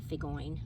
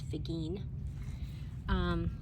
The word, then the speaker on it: Figine: So another name for them is Figine, and that's the way you pronounce it, not Figoine. It's Figine.